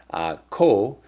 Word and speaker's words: 口: And then, of course, the pronunciation, kou, with the Moogle character, which I mentioned means third tone. So it's this kind of one here, so kou.